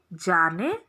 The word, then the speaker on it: Bjarne: तो C++ is a programming language which is developed by Jarne Stroup. जारने का spelling B से शुरू होता है बट इट इज बी is silent, BJARNE।